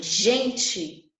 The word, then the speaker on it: gente: Quando eu tenho a palavra gente em espanhol, eu pronuncio gente. Mas por que eu pronuncio gente? Porque a regra diz que a pronúncia tem som de R do português e diante de vogal E e I, eu pronuncio com som de R.